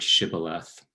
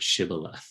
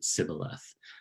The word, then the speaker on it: shibboleth: enemy they were fighting couldn't pronounce the shah would pronounce it sybillath um and anyone who who made that mistake in translation and pronunciation would then be killed um this poem is